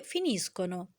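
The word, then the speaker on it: finiscono: يبقى انا كده عندي فيربو فينيري وتصريفاته: فينيسكو فينيشي فينيشه فينيامو فينيته فينيسكونو. جنب الطابلة دي مكتوب بقى ايه؟ attenzione alla pronuncia، يعني خلي بالك من البرونونشا النطق.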